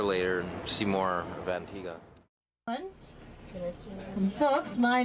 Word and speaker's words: Antigua: Hello, we're in Antigua, and even though it's spelled Antigua, it's pronounced Antigua. I don't know why. They didn't say why, they just said that it's pronounced Antigua.